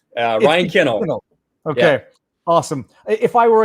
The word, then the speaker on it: Kinel: right and you said it right uh ryan kennel okay awesome if i were a kid i